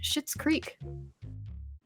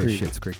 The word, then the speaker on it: Schitt's Creek: We get to keep saying shit because shit in Schitt's Creek is someone's name. It's spelled weird, so it makes it okay.